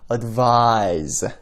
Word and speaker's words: advise: 근데 두 번째 거는 advise 이렇게 좀 길게 발음을 하고 끝에 Z 발음이 들린다는 거 알아두시면 좋을 것 같습니다.